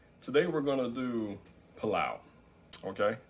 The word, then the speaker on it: pelau: we're going to do palau okay it's pronounced pilau and you spell it p-e-l-a-u it's a caribbean dish or